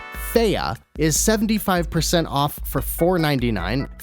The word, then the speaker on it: Fe: Fee, or as I've been told it's pronounced, Fea, is 75% off for $4.99.